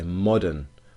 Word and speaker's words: modern: you to notice that the stress is on the first syllable so we say modern mod and so I've underlined